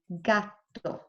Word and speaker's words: gatto: has a TT and so you have to pronounce that T a bit stronger gato and that's it wonderful let's look at number